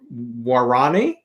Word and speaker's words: Guarani: This is your fourth novel, which is a fictionalized account of how evangelicals descended on the, am I going to pronounce this right, Guarani?